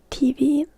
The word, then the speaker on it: TV: So in Finnish you can also say TV, but you need to pronounce it the Finnish way, which is TV.